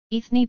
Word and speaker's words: Eithne: Her name is anglicised as Enya Patricia Brennan, where Enya is the phonetic spelling of how Eithne is pronounced in Irish.